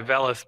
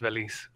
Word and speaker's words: Velis: andrew belisse los siento i usually go by vellus but it's it's pronounced veliz uh it's just to